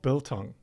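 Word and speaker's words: biltong: It's called bilong. Belong. Yeah, it's spelled B I L T O N G.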